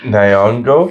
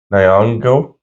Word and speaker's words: Nyong'o: Nyong'o. From Us. Nyong'o.